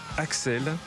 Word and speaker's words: Axl: Guns N'Roses et bien Axel Axel rose ça s'écrit Axl Axel Axel rose histoire et